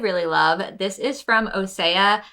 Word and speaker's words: OSEA: love this is from osea I just had to look up how to pronounce their name because I've totally been saying OSHA but this is the